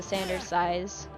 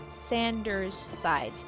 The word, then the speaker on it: Sanders Sides: obsessed with one of his scripted series, the Sanders size. S I'm mispronouncing it. Sanders sides.